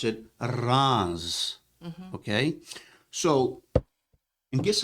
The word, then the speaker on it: Reims: is even though it's spelled reims the French pronounce it wrongs Okay so and guess how many bottles are